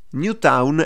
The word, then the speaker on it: New Town: New Town Mala tempora New Town è scritto Come si pronuncia all'italiana Questa è una punk